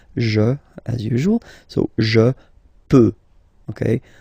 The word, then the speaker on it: peux: as usual, so je peux, okay? Final X not pronounced here, okay? So you get X, but you don't pronounce it, so basically you get the sound peut, peut, je peux.